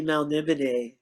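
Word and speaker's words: Melniboné: it's officially Melnibone.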